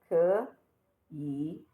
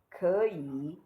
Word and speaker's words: 可以: 可以. Remember, we learned that when saying it, you say it like this E here has second tone. You say it like 可以 and not 可以, but that is when you're saying it.